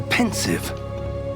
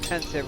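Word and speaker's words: Pensieve: That is a pensive for viewing memories. I wonder... Oh, I'm so glad that somebody pronounced pensive right. Because Gambon, he said pensive.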